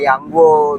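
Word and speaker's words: Yang Guo: Karena biasa yang bahasa yang Mandarin kan ya, kayak Yanggo gitu, bukan Yoko, bukan Iya, Kueceng gitu.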